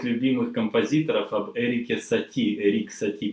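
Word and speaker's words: Erik Satie: И рассказать вам об одном из моих самых любимых композиторов, об Эрике Сати, Эрик Сати по-французски, да, его произношение, Эрик Сати.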